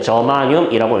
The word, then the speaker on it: 저마늄: 읽을 때 뭐라고 읽냐면요, 저마늄이라고 읽는 겁니다.